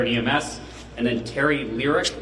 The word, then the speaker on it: Liercke: How do you pronounce that last name? Lyric.